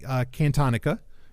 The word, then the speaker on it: Cantonica: And these are 4 stories, I think it was 4, that have to do with the planet Cantonica. That's how you pronounce it.